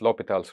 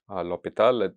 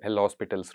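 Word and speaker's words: L'Hôpital: us learn it as L hospitals rule or or something like that I think Lal is the correct French pronunciation close enough to the French pronunciation that I can manage okay so let's get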